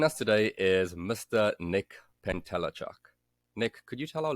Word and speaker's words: Pentelechuk: me uh nice to meet you and you pronounced my last name perfectly so my name is Nick pentelechuk I own a business called clean cut real